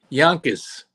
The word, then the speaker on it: Yonkers: I will remind you how certain people from certain parts of of Yankers pronounce the name of their lovely city yonas yonas it's it's yonas yonas we're all bonkas about